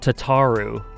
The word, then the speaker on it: Tataru: like an ff14 uh Tatu is pronounced tataru in the game but I just can't say that it sounds it sounds too strange to me what was his